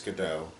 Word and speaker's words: Gadot: you pronounce the name i think it's godot i think the t is silent that's what i think